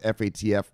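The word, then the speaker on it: FATF: we've been talking about F ATF they pronounce it fat F the financial action time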